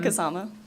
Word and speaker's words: Kasama: Can you please state your name for the record and spell it? Um, Kasama.